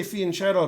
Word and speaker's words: fianchetto: star king the i the second letter is like a y and it's not shadow it's keto so fiance that's how you do it practice but i just say fianchetto because i'm in america